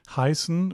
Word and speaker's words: heißen: It's not pronounced A, it's pronounced I. Very very common mistake.